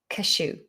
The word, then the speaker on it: cashew: a cashew nut cashew how do you pronounce cashew cashew it sounds like you're sneezing a cashew nut and